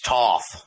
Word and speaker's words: Thoth: I can't talk about Thoth. probably even said it wrong. Somebody will be like, well, actually, you say it like this, Yeah, actually, it's Toth.